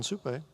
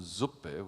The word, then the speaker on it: Suppé: And Suppé, I thought that he was French because Suppé has an accent on the E. Otherwise it would be Franz von Suppe, which means Franz from soup.